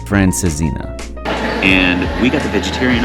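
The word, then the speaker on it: francesinha: most iconic dishes this is the traditional franina I think not even close it's actually pronounced francina and we got the vegetarian option which includes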